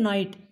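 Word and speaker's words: knight: घटी है उसका दिन नाइट इसमें स्टूडेंट जिस तरह से नो हमने पड़ा है नो में के साइलेंट इसी तरह से नाइट में भी के साइलेंट रहेगा इसको बनाइए इसके बाद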